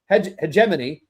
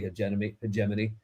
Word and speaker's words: hegemony: Hegemany. Hegemany. He We had a debate over how to pronounce that. It's actually hegemony.